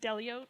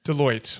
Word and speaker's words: Deloitte: Is it Delote? Deote. Deote. I knew that was right.